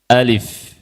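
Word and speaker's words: ألف: Lihat a-nya pendek, lamnya pendek. Alif. Alif. Baca gitu. Fnya disukun. Alif. Coba baca sama-sama.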